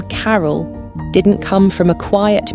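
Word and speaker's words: Carroll: And we would like to call it Carol. And you spell that C-A-R-R-O-L-L.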